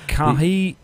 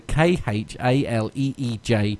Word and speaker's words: Khaleej: The Kahili. Yeah. The something or other Times, anyway. It's the KHALEEJ Times.